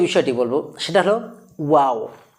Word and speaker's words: و: 2 নম্বরে যে বিষয়টি বলবো সেটা হলো ওয়াও। ওয়াও মাখরাজটি এমনভাবে আমরা উচ্চারণ করব, মুখের এই যে আমাদের ঠোঁটের কিনারা আছে, কিনারা থেকে আমরা ওয়াও বর্ণটি উচ্চারণ করব, কোনো রকম কষ্ট ছাড়াই,